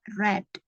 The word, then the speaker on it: read: Untuk verb keduanya yang agak berbeda ya. Jadi dibacanya red. Ya, seperti kamu pronunciation warna merah kan, warna merah itu red ya. Caranya seperti itu ya.